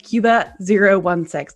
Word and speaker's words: Qba016: But you probably know him as his username, Cuba016. Did I pronounce that right, Cuba?